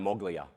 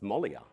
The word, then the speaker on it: Moglia: Now, I've been pronouncing his name Darren Moglia. I've known this guy for about 8 months. It's Mollia.